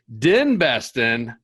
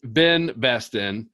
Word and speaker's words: DenBesten: Kris DenBesten, not Ben Besten.